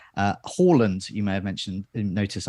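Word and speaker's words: Haaland: plus we will attempt to get all our pronunciations right uh holland you may have mentioned notice i said that not harland and not jesus it's jesus um so there's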